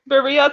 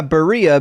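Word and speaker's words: birria: Buria tacos? That's a thing? I've never heard of it. Yeah. No, it's not spelled Buran, but it sounds very similar.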